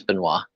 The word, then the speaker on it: Benoit: and this is this is yes chris benoit yeah he's the guy who murdered his family from canada yeah it's benoit it's crispin why it's spelled b-e-n-o-i-t or something like that this junkyard